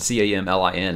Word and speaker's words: Camlin: this character's name was Camlin, C-A-M-L-I-N. I started pronouncing it Camlin, like the, you know, the city in Wheel of Time.